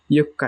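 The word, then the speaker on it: 四日: আর এই যে 4 তারিখেরটা একটু ভালোভাবে দেখেন, ছোট সু আছে, পরের কটা হচ্ছে 2 বার উচ্চারণ হবে। ইয়ক্কা, ইয়ক্কা মানে 4 তারিখ, ইয়ক্কা।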